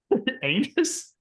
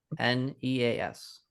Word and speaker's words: Aeneas: Anus? Anus? Aeneas.